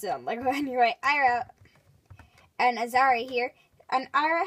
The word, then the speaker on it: Aira: so after pronouncing the name wrong b it's ira that's how they pronounce it on lego anyway ira and azari here an ira has her normal